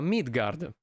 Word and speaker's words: Midgardr: Today's episode is dedicated to Midgardr— the final "r" is silent, mind you—an Italian indie title developed and published by Holy Radish.